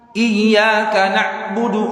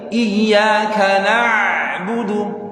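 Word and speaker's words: إِيَّاكَ نَعْبُدُ: Iyyaka sedikit kayak ditarik. Jadi nggak terlalu Iyyaka na'budu, enggak, tapi Iyyaka na'budu. Terasa gak Pak? Kayak ditarik, itu namanya tawassut.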